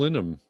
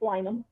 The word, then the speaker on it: Linham: All right, Nicole Linham. Did I say it right? Close enough. It's Lynham. So Nicole Lynham.